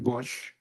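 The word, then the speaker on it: Busch: Can you please state your name and spell it for the record? So it's Bush, B-U-S-C-H.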